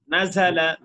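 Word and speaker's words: نَزَلَ: জবর নাজালা নাজালা নাজালা নাজালা, রাল হবে না, উচ্চারণটা হলো ঝা ঝা ঝুল ঝিলা ঝা, নাজালা নাজালা নাজালা নাজালা শব্দ তো, এগুলো এটা কোরআনের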